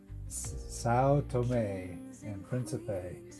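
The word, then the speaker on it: São Tomé and Príncipe: Saoto and principe. So there you go. That that's how you say it. Saoto and principe.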